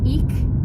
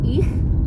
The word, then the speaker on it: ich: Atau contohnya lagi misalnya ich, itu ICH artinya saya, ich. Jadi enggak ik atau ich, tapi ich.